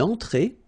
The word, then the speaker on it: entrée: Then une entrée. Une entrée. Okay, remember, well, technically this final here is not pronounced, so phonetically it doesn't exist, so it's et, okay? Entrée. Remember, nasal here, en, entrée. Une entrée.